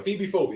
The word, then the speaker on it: ephebiphobia: Aphibophobia. That's how you say it.